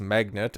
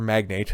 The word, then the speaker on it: magnate: the shipping and chemicals magnet uh who's rather magnate sorry pronunciation whose net worth